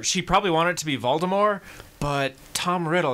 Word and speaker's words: Voldemort: like hi is so wrong apparently we've been mispronouncing Voldemort wrong all these years what what what apparently